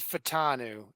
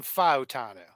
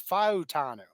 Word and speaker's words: Fautanu: We're gonna say So it was, everyone said Fatanu, and then it became Fautanu. So because it's what happens is that at a certain point, like after you say the name for so long, and then you actually ask the player how you pronounce his name, and then he says it correctly. Now you have to readjust how you say it. So it's Fautanu.